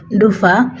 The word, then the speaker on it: ডুফা: আমি জানি না এটার নাম ঢুপা কেন হয়েছে, মানে আমাদের সিলেটি ভাষায় বলে আর কি ডুফা। যাই হোক, এখানে ফ উচ্চারণ হয়, তো আমি আর কি শুদ্ধ ভাষায় ঢুপা বলছি।